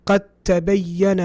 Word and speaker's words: قد تبين: Now the تبين is going to have a shadda because it's obviously idgham. Okay. قد تبين قد تبين. I didn't pronounce the dal. Okay. I jumped onto the ta.